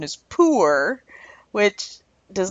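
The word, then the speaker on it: Pu-erh: see he the word pure my mind hears pura I don't know why I say it in my head it comes out pura maybe I'm thinking that it's healthy and pure but the correct pronunciation is poor which does not project pure goodness to me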